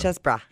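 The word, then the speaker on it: Chessbrah: Chessbra.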